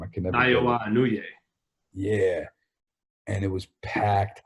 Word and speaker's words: Naoya Inoue: Naoya Inoue.